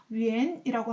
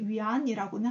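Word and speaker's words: 远: 그리고 멀다라고 했을 때는 중국어로 이렇게 표현을 하는데 여기 왜 이렇게 바뀌었는지는 다음 시간에 설명, 위엔이라고 하지 위안이라고는 하지 않습니다.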